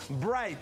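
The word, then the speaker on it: bride: es la siguiente palabra novia en inglés se pronuncia Bright y se escribe de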